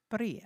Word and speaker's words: birria: Birria. I can't roll my tongue like that.